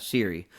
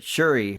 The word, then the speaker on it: Shuri: How do you say it? Shuri? Not Siri, but Shuri from Black Panther.